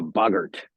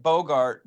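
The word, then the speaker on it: boggart: The the the the bogurt. The bogurt. See, I'm pronouncing it Bogart because I was thinking it was based off Humphrey Bogart, the actor, because it's a thing that becomes whatever you're most afraid of.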